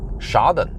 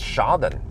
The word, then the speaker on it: Schaden: Okay, so it's actually different because in Norwegian it's skade. So I was assuming it was similar pronunciation, but it's not. So it's just Schaden, not ska.